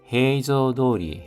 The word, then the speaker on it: 平常通り: 시아츠카라 처음 출발부터 해조도리 해조도리 하면은 평상 해조가 평상입니다. 토리데 붙어서 발음이 도리로 바뀌었습니다.